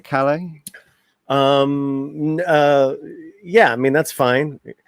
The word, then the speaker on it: Calle: Am I pronouncing that right, Calle? Yeah, I mean that's fine. Yeah, I would kill the L's. Just put your tongue on top of the roof of your mouth. Calle. Okay. Calle. So Sasha Calle.